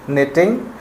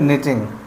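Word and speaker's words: knitting: टी आई एन जी नेटिंग डल इसमें friends के silent होता है प्रोनंसिएशन होता है नेटिंग नेटिंग needles okay number six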